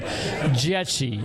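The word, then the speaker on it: Dzieci: The company is called Jeti and you won't be able to spell it so I'll spell it for you. is D Z I E C I Ji. It's Polish.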